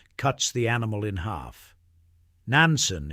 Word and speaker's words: Nansen: Nansen is how the Japanese say his name.